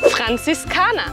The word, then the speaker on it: Franziskaner: Franziskaner. La primera R gutural. La Z fuerte. Y la R al final como una A.